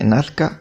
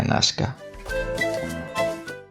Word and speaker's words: Nasca: nasca usaremos esta acepción porque nazca es el término con la pronunciación hispanizado el término correcto al menos arqueológicamente sería nasca Pues bien el primer